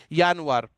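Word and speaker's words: Januar: यानुआर, यानुआर means जनवरी, pronunciation different रहता है, यानुआर।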